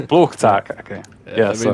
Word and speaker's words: Flugtag: Tell me how to pronounce it. Flugtag. Flugtag.